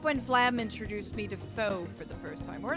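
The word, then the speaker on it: pho: is it called f what is the proper pronunciation of pH h o it's that it's that noodle soup with the meat in it I quite enjoyed it the second one so it's far oh thank you SN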